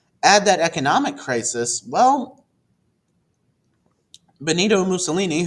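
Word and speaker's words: Benito Mussolini: that economic crisis well Bonito ini whose name rhymes with torini um utilized his power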